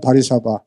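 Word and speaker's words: Warszawa: 폭격당했잖아요 그리고 다 비행기가 못 뜨기 때문에 폴랜드에는 바리사바 영어로는 월사우라 그러는데 W 발음이 폴란드는 디바리맨에서 바리사바라 그러는데 바리사바에 도착해서 자동차로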